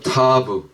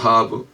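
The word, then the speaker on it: ת: 그 마지막 22번째 글자 이건 타브 혹은 타라고 발음합니다 타브 혹은 타 이건 십자가입니다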